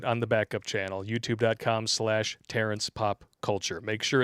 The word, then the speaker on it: Popp: P-O-P-P, the second P is silent.